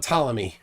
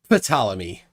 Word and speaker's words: Ptolemy: What about Ptolemy? Well, yeah, that's or as one flat earther pronounced it, Ptolemy. Ptolemy. He can't pronounce the P.